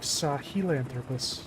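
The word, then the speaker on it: Sahelanthropus: It looks like it's written more like Sahilanthropus. Sahilanthropus. I'm pretty sure everybody pronounces it Saha in the game at least.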